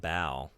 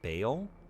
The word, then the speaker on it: Baal: I know they're saying it Bao. I think part of it is like when I took religious studies courses, my professors had me, like they taught me to pronounce it Baal, like when we're dealing with like biblical stuff, and that's locked in, and it's hard for me to abandon that.